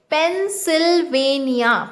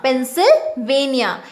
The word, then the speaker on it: Pennsylvania: earth in the place known as pennsylvania okay pronounce it with me pennsylvania pennsylvania it is located in usa and the petroleum